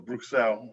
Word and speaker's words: Bruxelles: Yeah, actually it was Bruxelles, I guess. So that's the way they pronounce it.